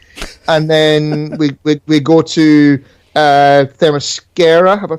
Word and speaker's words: Themyscira: We get introduced to Pissy Cyborg, and then we go to Themyscira. Have I pronounced that right? Themyscira, yeah.